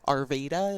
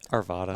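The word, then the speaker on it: Arvada: It was Steph or um Carrie from BC and Steph from local Arvda. Is that how you say it? Arvvada.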